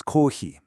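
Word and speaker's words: コーヒー: Coffee is kohi.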